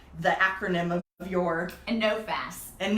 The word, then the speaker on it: NOFAS: do I say the acronym of yours and know fast and know fast okay thanks and I wasn't sure how to